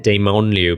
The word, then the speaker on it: Dementlieu: I feel quite validated as well, because Demonomicon I always pronounced it Demonomicon, but then I saw everyone else pronouncing it Demonomicon. And I was like, "I'm saying it wrong." But no, it says it's Demonomicon. I was right.